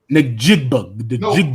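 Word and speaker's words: Njigba: Jigb.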